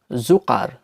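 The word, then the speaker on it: Zucker: যখনই এগুলো কোনো শব্দ থাকবে তখন এর উচ্চারণ হয়ে যাবে ক এর মতো বা ইংরেজি কে এর মতো, যেমন জুকার, জুকার, যার অর্থ হচ্ছে চিনি বা সুগার, খাবার চিনি।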